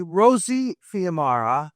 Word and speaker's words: Rosie Fiumara: Well, we're going to pronounce her name correctly. Rosie Fiumara.